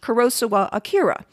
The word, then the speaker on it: Kurosawa Akira: and in the end, I went with my attempt at a more Japanese pronunciation of the name rather than a more typically American pronunciation.